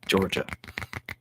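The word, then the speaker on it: Jorja: because it's so funny her name is spelled with a J Georgia it's j-o-r-j-a Georgia I'm like and it's just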